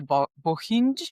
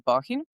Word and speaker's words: Bohinj: Usually foreigners say Bohinj because it's it's it's hard to pronounce but it's in Slovenia it's Bohinj. So, there is a lake,